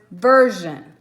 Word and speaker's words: version: So this R made it say the jeune sound.